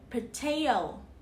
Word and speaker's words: potato: I'll fry their potato. Potato. Trọng âm rơi vào âm tiết thứ hai.